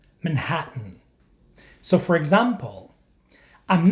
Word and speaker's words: Manhattan: look at some examples this is not how we pronounce these words in standard American English certain Buton Britain WR Martin Manhattan in American English we pronounce these words like this certain button Britain written Martin Manhattan so for example I'm